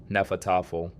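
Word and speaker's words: Hnefatafl: Vikings played a game called Nefat, pronounced roughly nefat, and they played it everywhere.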